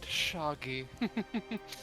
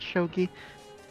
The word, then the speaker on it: shogi: We're playing a vastly inferior game to my personal favorite, Shoggy. Oh, that hurts. This truly shouldn't be that much of a problem. Actually, Mister, it's pronounced shogi.